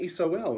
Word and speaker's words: sol: and i'm referencing the soul of course right so as above as a below right so even the latin word for sun is sol and you pronounce it just like eso ul soul okay so this is